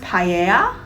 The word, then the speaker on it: paella: very familiar with pi it's probably pronounced paella not you don't have to l apparently like camilla cabello like yeah which makes sense if it's two l's it's like a y sound not an i don't